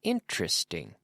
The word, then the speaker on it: interesting: The story is interesting. 3 syllables. Interesting. Da, da, da.